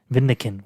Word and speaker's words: Vindican: How do you fucking pronounce his name? Vindictus? Let me look. Vindican.